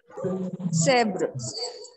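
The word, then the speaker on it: zèbre: in this word, that you are pronouncing it as zebro. It is not zebro. It is zebr.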